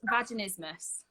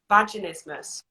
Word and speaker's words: vaginismus: made like invented an easier word um it's pronounced vaginismus vaginismus yeah um and quite honestly it's rare that